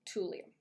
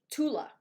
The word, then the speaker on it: Tula: I've exfoliated so I really love Tulum Tula I think is the way you pronounce it Tula skincare t l a um and finally